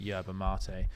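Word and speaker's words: yerba mate: r b a and then mate but it's pronounced yba M and you'll see the the picture of it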